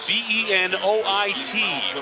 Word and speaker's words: Benoit: B-E-N-O-I-T, pronounced Benoit.